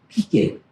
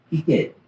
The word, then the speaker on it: peaked: So though it's spelled peaked, which just means it's sharp, peaked, peaked.